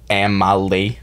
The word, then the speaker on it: Amely: band so our band name is amily it's pronounced Amal the thing about band names is you don't